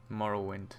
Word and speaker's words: Morrowind: Morrow wind I'm sure the Let Us Go Morrow wind ah there we go that's how it's spoken quiet pronounced here comes the guard this is where